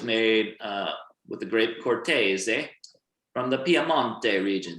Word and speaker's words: Cortese: so gabi is made uh with the grape cortez from the pia monte region so i want everyone on three to say cortese really one two three perfect from piano so